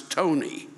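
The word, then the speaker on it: Ptoughneigh: this up it's spectacular p p t o u g h n e i g h and then in parentheses pronounce tony and i can't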